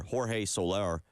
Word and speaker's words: Jorge Soler: But yesterday they acquired outfielder Jorge Soler, I believe is how you say it, and right-handed pitcher Luke Jackson from San Francisco.